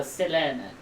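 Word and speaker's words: Selene: Yeah, so the first E in Selena, that is pronounced, it's actually meant to be pronounced higher, so closer to E, so like an E, so se, and then the other one, that's epsilon, is pronounced lower, so Selena.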